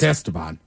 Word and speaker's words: Esteban: It's not Steve. That's how it's pronounced. It's Esteban. Esteban.